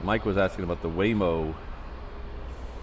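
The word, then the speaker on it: Waymo: So Mike was asking about the Whimo. I think it's Whimo, even though it's spelled with Veo. That would be Hawaiian. Whimo. I think that's how you say it.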